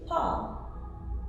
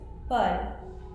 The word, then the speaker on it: Paul: But you will also find it with AU, that's still pronounced O, and also EAU. Examples, AU as in Paul, the bakery, that's one of my favorites. Paul.